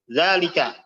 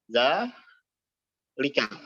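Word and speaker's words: ذلك: Zalika. Ya, kita nulisnya setelah ada langsung lam. Zalika. Ya. Ya. Tadi kita bacanya apa? Bukan zalika, tapi zalika. Zalik. Nah, ya. Jadi zalnya 2 harokat.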